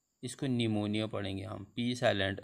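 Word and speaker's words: pneumonia: एंड S6 आया पूर्व आया हुआ पी हमेशा साइलेंट रहेगा तो यहां से ए P N-you M ओ एन ई पी मैं इसको निमोनिया पड़े हम पीस आफ लैंड एंड से पूर्व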